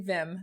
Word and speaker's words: Viim: intentional integrated marketing so Vim is felt with two eyes it's very similar to the English word Vim which means enthusiastic high-spirited energetic um but it is spelled with two eyes so make sure you